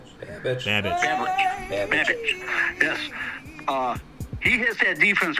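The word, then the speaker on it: Babich: Babbage.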